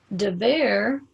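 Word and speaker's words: דֶּבֶר: it's a contra name de ver is just pronounced differently than davar davar is the divine word the ver is a pestilence when you depart from the word so what determines whether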